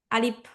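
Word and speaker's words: ألف: আলিফ আলিফ হ্যাঁ আলিফ উচ্চারণের সময় আমরা একটু সবাই খেয়াল রাখবো আলিফটা যখন বলব আমরা তাড়াতাড়ি বলব আর হচ্ছে শেষে কেউ পব না বা বব না আলিফ আলিফ এরকম বলব না আমরা হচ্ছে আলিফ বলব শেষে আলিফ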